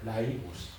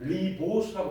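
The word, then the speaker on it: ribose: 이렇게 해서 요렇게 생긴요 물질을 뭐라 그러냐면 얘를 라이보수라고 읽어요. 라이보수 처음 뭐죠? 오늘 요게 쏟아진다고요. 라이보스. 자, 빨리 익숙하게 받아들리세요. 라이보스. 여러분들 선배지는 리보스라고 배웠어요. 리보스.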